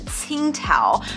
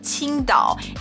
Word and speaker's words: Tsingtao: should be pronounced as Tsingtao, but it's actually pronounced Qingdao, exactly the same pronunciation as the city of Qingdao in Shandong province.